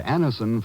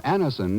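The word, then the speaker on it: Anacin: a moment when we ask you to try Anison for the relief of pain due to a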